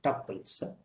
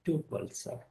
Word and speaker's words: tuples: Please note it is pronounced, should be pronounced as tuples. You can also pronounce as call it as a tuples.